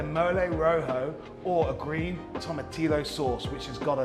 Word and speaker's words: tomatillo: Yeah, a little bit of an L in there. Tomatillo. Tomatillo.